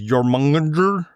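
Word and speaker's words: Jörmungandr: I think it's pronounced as Yoronger from Norse mythology.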